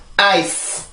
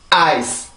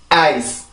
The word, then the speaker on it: ice: 그래서 절대 소리를 길게 만들지 말고 이렇게 음절의 끝 혹은 단어의 끝에 어떤 자음이 오더라도 그 소리가 가진 소리에서 한 10에서 20 정도 아주 약하게 발음을 해주면 돼요. 공기도 길게 나오면 안 되고 세게 나와서도 안 돼요. 아주 부드럽게 발음을 해주세요.